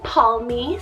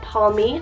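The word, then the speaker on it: Palmi: Keeping on this nature train, we have the name Palmy, spelled P-A-L-M-I, Palmy.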